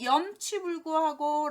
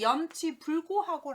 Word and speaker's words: 염치불고: 마지막 염치불구하고 라고 표현할 때 쓰는데 아까 체면불구, 염치불구 우리가 고자를 계속 구발음을 하는 경향이 있네요. 보시면 염치불고하고 라고 표현을 하셔야 됩니다.